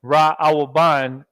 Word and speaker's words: Reuben: Reuben, Ra Awaban is the Seminole Indians.